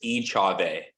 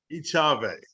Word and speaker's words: Echave: It's hard to pronounce. It's Echave. Echave.